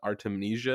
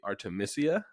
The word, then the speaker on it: Artemisia: from the last episode we mispronounced the name of artemnesia it's actually artemisia because of the name derives from artemis so just wanted to